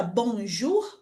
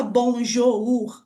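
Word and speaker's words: bonjour: Então, na palavra bonjur, por exemplo, a gente não fala bonjou, a gente fala direto bonjur.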